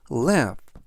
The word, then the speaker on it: laugh: 뜻이 되겠습니다 이번 단어는 lef love 라고 발음하시면 되겠고요 이때 끝부분에 있는 gh는 두 개가 동시에 F 발음이납니다 그래서 leve라고 발음하시면 되겠고요 품사는 동사 뜻은 웃다라는